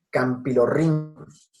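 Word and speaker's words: Campylorhynchus: Bien, campilorhynchus. CH, siempre sonido de K. Siempre. Todavía hay muchos por ahí que dicen campilorhynchus. No.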